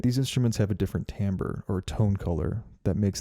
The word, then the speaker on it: timbre: an example our next element is called timbre which is not pronounced timbre if you remember from my last video i